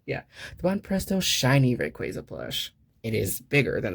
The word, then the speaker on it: Rayquaza: But it is the Pokemon Center Rayquaza plush, or I'm sorry, Rayquaza, because they did confirm recently that it is pronounced Rayquaza.